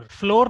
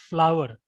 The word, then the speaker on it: flour: जैसे FLOWER और FLOUR, इन दोनों का ही प्रोनाउंसिएशन क्या है, फ्लावर, फ्लोर नहीं है पहली बात तो इसका, ये आटा वाला जो है ना, इसका प्रोनाउंसिएशन क्या है, फ्लावर।